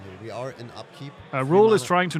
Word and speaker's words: Roel: Oh, I just learned from chat that Roel is pronounced rule, like in rule of law.